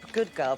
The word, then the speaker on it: Goodgirl: Mayor-in-waiting Hope Goodgirl, pronounced just how I said it.